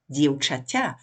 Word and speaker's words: dievčaťa: Dievča, plural dievčata, long a again, genitive singular, bez dievčaťa, soft t and short a for genitive.